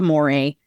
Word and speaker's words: mores: help you in differentiating between a folkway, a more, and thank you for bringing up that it's spelled MORES, and then a taboo.